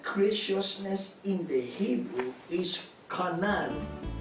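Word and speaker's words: חָנַן: The word graciousness in the Hebrew is kanan, pronounced as Conan.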